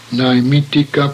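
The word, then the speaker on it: Naimittika: Please observe that Nai is pronounced as in the word naive, not as in nay.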